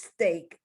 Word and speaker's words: steak: was telling you that sometimes the e a is pronounced like the a you ignore the e and you just pronounce the a but not always and